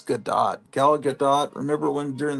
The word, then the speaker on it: Gadot: Like when Wonder Woman, uh, Gal Gadot or Godot, I want to pronounce it Godot because it looks like Bridget Bardot, but I guess it's Gadot.